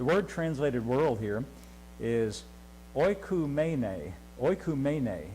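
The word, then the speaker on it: οἰκουμένη: And I wrote the pronunciation out. The word translated world here is oikumene.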